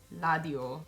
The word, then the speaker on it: 라디오: The second rule was that when lir is the first letter or the last letter of a word, that it's gonna be pronounced as an L. So, 말, 라디오, 정말, 정말.